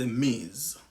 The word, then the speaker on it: Ms: grand monde, ou j'utilise Ms. Il prononce Ms. The Z sound, son Z.